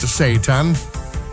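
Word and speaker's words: seitan: At first glance, Satan. Pronounced Satan doesn't sound like something you'd want to eat, but don't let the name fool you.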